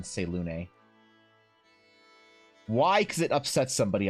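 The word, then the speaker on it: Selûne: Because yes, you do pronounce the E in Selune.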